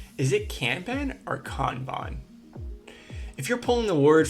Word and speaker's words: Kanban: is it Canan or kbon if you're pulling the word from its original Japanese origin it's definitely kbon but Bes this is